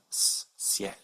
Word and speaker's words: ciel: And so this word is pronounced ciel with a soft C, ciel. Remember those nasal vowels at the end of the last video?